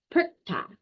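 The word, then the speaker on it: Perchta: And how you pronounce her name is Perkta. She can appear in two different forms.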